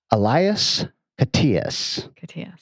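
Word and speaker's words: Elias Koteas: guy a lot and we have pronounced his name various ways i am telling you with authority it is elias patias 90 credits he was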